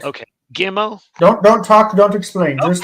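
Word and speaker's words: ג: So Gimel had two sounds with and without the dot, but now they are the same. Now it's g all the time.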